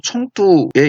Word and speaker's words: 청두: 해릉이라고 하는데 지금은 사천성의 성회 즉 도청 소재지인 성도 중국어 발음으로 청두에 있습니다.